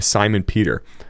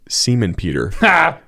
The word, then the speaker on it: Simon Peter: scripture he came to the name Simon Peter except he accidentally pronounced his name Seaman Peter and he didn't realize his mistake but just kept reading on I lowered my head with